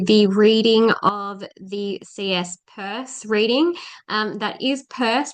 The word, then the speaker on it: Peirce: I'm here to do the reading of the CS purse reading. Um that is pur pronounced like a purse, not pierce, even though it looks like pierce.